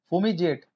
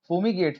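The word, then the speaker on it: fumigate: फूमीजेट, फूमीगेट, फूमीजेट नहीं है, फूमीजेट तो मैंने वो बता दिया।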